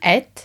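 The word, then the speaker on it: einn: Et. Even though it's spelled ein.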